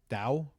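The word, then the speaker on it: Dou: Dao.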